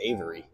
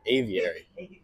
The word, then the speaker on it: aviary: times now we're gonna head into the cocabur Avery Avary wow I can't speak English cocabur Avery Avary still can't say it right Aviary bird yeah we're going into this giant bird